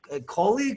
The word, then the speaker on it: Coley: will let catherine cool coley cooley how do i pronounce totally it's like guacamole so first off how's your day where are you at how's the weather how's life hey so catherine kohler here you can call